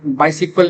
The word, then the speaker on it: MySQL: So how it is pronounced my SQL that is called the MySQL MySQL.